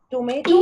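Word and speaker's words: tomates: Tomato. Yes. Tomato. Tomato. Wow, 1 minute. Tomatoes. Tomate. Tomat, the S is silent.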